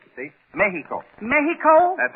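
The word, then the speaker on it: México: Mexico oh no not Mexico Eddie the Spanish pronunciation is Mexico yeah you make the X sound like an H you see Mexico Mexico that's right all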